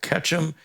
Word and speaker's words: Ketchum: These include gold record certified Hal Ketchum. Did I pronounce that right?